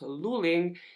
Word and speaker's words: Luling: And both of them were growing up in what is called, I believe it's pronounced, Luling in Texas.